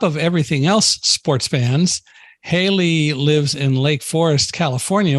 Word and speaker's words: Haley: talk to her mom, and sometimes her mom pronounces it Hallie Cooper. But and my computer, by the way, with JAWS pronounces it Hallie, but I'm smart enough to know that it's really Haley.